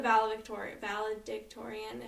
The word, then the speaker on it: valedictorian: I believe she was the valedictorian.